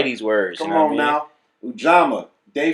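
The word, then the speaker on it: Ujamaa: Pronounced Ujama. Ujama.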